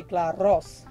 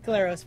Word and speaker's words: Glaros: Well, if you're Greek, you say Glaros. But which I can't roll R's, so I'm glad you did that for me. Glaros works.